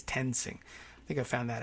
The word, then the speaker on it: Toensing: Is that how she says her name? Tensing or Tonesing? It's spelled like toe, T-O-E. Toe and Toensing, but I think it's Tensing.